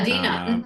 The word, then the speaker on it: Adena: Is that how you pronounce her name? Yeah, Adina.